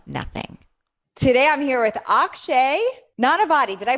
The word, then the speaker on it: Akshay Nanavati: creating everything from nothing today I'm here with Akshay not a body did I pronounce it right oxygen perfect amazing I'm really